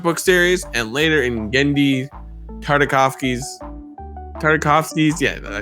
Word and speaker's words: Genndy Tartakovsky: He first appeared in the Star Wars Republic comic book series and later in Genndy Tartakovsky's, yeah, I said it right, original Star Wars Clone Wars cartoon.